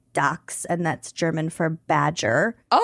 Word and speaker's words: Dachshund: But a German would pronounce it dax and that's German for badger.